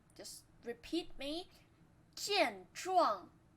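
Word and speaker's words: 健壮: 健壮健壮健壮, both first tone.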